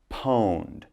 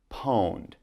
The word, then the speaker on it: pwned: It's pronounced pwned, okay? They don't type the O, but they say pwned.